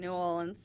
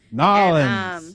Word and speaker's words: New Orleans: great because they follow cops and ambulances and fire people out there in New Orleans. Nolans. God, please don't say that. Say it right.